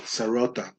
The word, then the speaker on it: Sarauta: Mind the pronunciation Sarauta system because the king had absolute power.